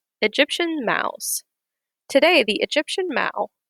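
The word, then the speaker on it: mau: maos today the egyptian mao mao is the egyptian word for cat and rhymes with cow is believed to be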